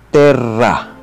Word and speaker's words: terra: Double consonants must be clearly sounded. Halimbawa, bello. Ito ay bello. Terra. Ito naman ay bigkasin na terra.